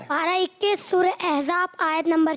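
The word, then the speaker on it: أحزاب: आपको बताता चलूं कि ये सूरह अहज़ाब नहीं सूरह अहज़ाब है.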